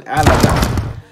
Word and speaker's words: Alazon: Team Alazan, what's good with it, y'all? It's your man, Alazan. Like Amazon, but with an L.